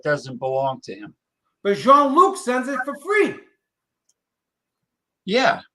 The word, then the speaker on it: Jean-Luc: But Jean-Luc sends it for free.